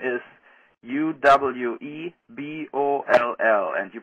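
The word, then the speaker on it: Uwe Boll: then pronounce my name right my name is Uwe B Oh lol and you pronounce it boo boo ball and not Yui or Eevee it's over ball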